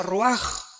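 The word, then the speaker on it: ruach: Aquí se usa otra palabra hebrea que es se escribe roach con R de Raúl A. Se pronuncia roaj.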